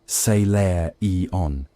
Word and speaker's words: Salarian: A young alt mccuria named Salarian phonetically seair eon carrying lacquered cylinders of vellum sealed by theore grand council.